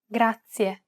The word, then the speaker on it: grazie: This word uses the rolled R sound. Grazie. To pronounce this sound, place the tip of your tongue on the gum ridge behind your upper teeth, just like you do when you want to say the English D sound.